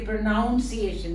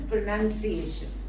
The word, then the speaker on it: pronunciation: This word itself is, people say pronunciation. It is not pronouncing because nouns, N-O-U-N. It is pronunciation.